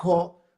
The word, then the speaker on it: ho: Uno que es un prefijo, que es el ho, de hecho, por lo que entiendo, se pronuncia ho, y significa, es un prefijo que activa lo que sigue después de él, ¿no?